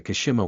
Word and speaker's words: Kashima: The oceans in the inner world are so terrifying because the Kashima one, it's a typical Japanese last name, so I used the Japanese pronunciation here.